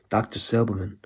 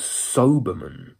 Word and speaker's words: Silberman: way that it's pronounced, Dr. Silberman, I had a feeling in my head it was Soberman, like Doberman, Soberman.